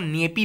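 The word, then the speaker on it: Nyepi: of silence okay तो basically बालिज डे of silent जिसको नेपी बोलते हैं remember this name नेपी एन वाई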